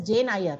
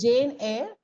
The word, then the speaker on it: Jane Eyre: Many pronounce it as Jane Eyre. It's Jane Eyre, Charlotte Bronte, Pride and Prejudice.